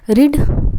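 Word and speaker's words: read: हम लोग देखते हैं रिड रिड का क्या बनता है रेड रेड ठीक है स्पेलिंग सेम है बट पढ़ा अलग जाता है ठीक है रेड रेड पढ़ते हैं उसको कैच कैच का क्या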